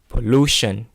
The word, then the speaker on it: pollution: that end in iron you see the stress falls on syllable before this like okay though so for the word pollution pollution so before iron we stress whatever the syllable before it combust nests combustion